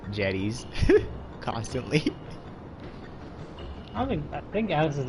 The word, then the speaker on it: Jedi: You should call them Jedi, that's how you pronounce them.